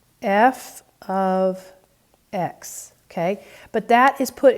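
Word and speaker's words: f(x): and then you'll see parentheses x and it's pronounced f of x f of x okay but that is put in place of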